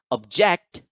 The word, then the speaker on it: object: object is a noun when accented on the second syllable object it becomes a word so when we say object it is a noun but when we say object it becomes a verb and that is why